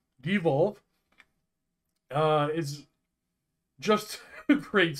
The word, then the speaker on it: De-evolve: Why do I always add an extra syllable? De-evolve is just a great spell.